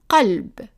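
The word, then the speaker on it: قلب: And in Arabic, in modern standard Arabic, it's pronounced. Calb.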